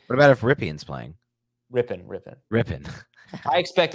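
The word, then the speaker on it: Rypien: Rippin. I expect it's going to be Rippin. I always call him Ripien.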